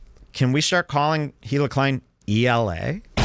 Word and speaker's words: Hila: alternate you got an alternate here down here hila clim which by the way did you guys know that hil's name is pronounced Ela Ela the H is in silent it's supposed